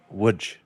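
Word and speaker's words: Łódź: ice club in Poland, which is located in Wood, Poland, which if you look at the spelling, it says L O DZ. It is pronounced WJ.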